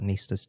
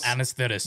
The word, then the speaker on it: anaesthetist: So anaesthetist. It's not anaesthetist. Nah. It's anaesthetist. So anaesthetist is how we pronounce it in Australia.